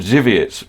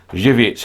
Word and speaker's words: Żywiec: The beer you are referring to is called Żywiec. Starts with a Z. It is pronounced exactly the way you do.